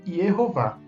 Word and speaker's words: Yehová: Então, se fosse para fazer a forma de mistura do nome divino com as vogais de Adonai, A ou A, a pronúncia seria Yahová. Yahová. Seria essa a mistura, a forma híbrida. Todavia, o nome divino é encontrado na maioria das vezes nos manuscritos como Yehová.